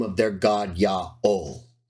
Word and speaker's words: Yaho: did so in the name of their God Yao not Yahweh or yeah Jehovah and if you don't want